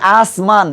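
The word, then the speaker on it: آسماں: আলিফ এটা নুনি গুন্না গুনা উচ্চারণ হবে কিভাবে দেখেন আসমা নুন হলে আমরা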